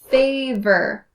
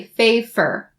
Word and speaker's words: favor: Don't change the v to the f. Don't say favor. That's wrong. Favor. And also try to distinctly pronounce the sound at the end of the word favor.